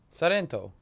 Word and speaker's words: Sorrento: You went where? Sorrento. Why are you saying it like that? Like what? It's Sorrento. I just learned it the way the locals say it. I'm actually saying it the correct way.